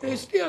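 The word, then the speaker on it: Astaire: エステアって発音するの、向こう。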